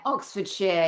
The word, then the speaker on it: Oxfordshire: No and Oxford Sher uh Oxford Shshire is that correct? Yeah, Oxford Shere.